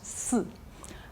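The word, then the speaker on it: 四: La 4 chiffres se prononce si. C'est très facile pour eux de comprendre la morte parce que c'est la même prononciation.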